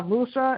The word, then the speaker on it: Musa: you say your name uh musa m-u-s musa musa okay m-u-s-a yeah okay you're a